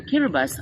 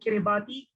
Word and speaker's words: Kiribati: And just this afternoon, I was reminded that Kiribati should not be pronounced as Kiribati, but rather as Kiribati, the only country that